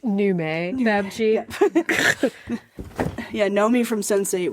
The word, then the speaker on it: Nomi: It's pronounced Nume, Babji.